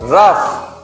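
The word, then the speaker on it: rough: तो जी के बाद में यदि एच आता है तो कई बार हम उस जी के साउंड को पढ़ते हैं, फ पढ़ते हैं। कैसे? यहां पे देखिए, रफ, इसे क्या पढ़ोगे आप?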